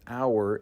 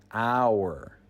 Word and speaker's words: hour: The word hour is pronounced with a silent H. So the first sound of the word is actually a vowel sound. Hour.